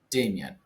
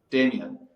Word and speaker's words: Damyan: Do you pronounce your last name Damien or Damyan? Damien, Damien. as if the Okay. Y was spelled like an I.